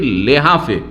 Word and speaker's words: লেহাফ: একই বিছানায় থাকতেন, একই লেহাফে, লেহাফ কম্বল যে গায়ে দেন, লেহাফটাকে আসলে আরবি শব্দ কিন্তু এটি লেহাফ, হা দিবেন দিয়ে উচ্চারণ করে বলবেন, তখন ওর নাম লেহাফ।